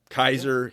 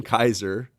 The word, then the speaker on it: Kaiser: Kaiser is Mm-hmm. what German's word for Caesar, right? That's how Yes. they pronounce Caesar, Kaiser. Um, the Persians, by the way, pronounce it Caesar. Caesar, by the way.